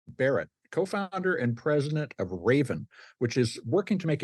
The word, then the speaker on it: Rayven: energy efficient Heating and Cooling using renewable energy Raven which is spelled r-a-y-v-e-n Raven is using crowdfunding to allow people to invest